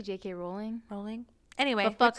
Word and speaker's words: Rowling: example jk rowling oh how do you say it rolling or rallying i say i say rowling i say rolling but i don't care you say route jake